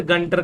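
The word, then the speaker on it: Gunter: लेकिन साइन जो है ये अरेबिक वर्ड है, लेकिन इसमें एडमंड गंटर का नाम आता है, या गुंटूर, जो भी बोलना है आपको भाई.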